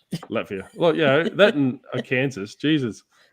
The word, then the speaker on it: Latvia: I had a shirt that I sent to Latavia. I think that's how you pronounce the country. Latvia.